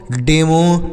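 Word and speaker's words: demo: टी आर O metro D ई एम ओ डेमो डी ई एम ओ डेमो पढ़ेंगे तो आप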